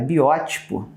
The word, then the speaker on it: biótipo: meu tipo não cara biótipo todas as palavras terminadas em tipo são proparoxítonas tá daí a palavra protótipo genótipo-fenótipo também então biótipo é o correto tá bem biótipo palavra